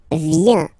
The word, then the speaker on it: viens: So, the first form is je viens. Je viens. Okay? Remember this I, viens, viens. And then this nasal. Final S not pronounced.